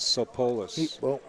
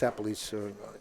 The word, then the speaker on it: Sapolis: David Sopolis. It's Sapolis. You're saying it wrong.